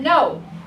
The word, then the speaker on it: know: silent letters for example the word know that K is silent the W is silent but we know that